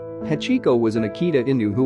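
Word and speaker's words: 八: They resembled the kanji that represents the number 8, which in Japanese is pronounced Hachi, so he decided to name him Hachiko.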